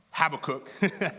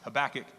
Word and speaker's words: Habakkuk: going over today is very familiar with often pronounced have a cook as I pronounced it when I first ever saw it is actually pronounced habakkuk he's the writer he's a prophet the minor